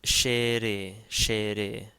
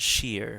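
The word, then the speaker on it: ϣⲉⲣⲉ: So this one is shere. Again, in Coptic, we pronounce every syllable. So this wouldn't be like English. It's not sheer, for instance.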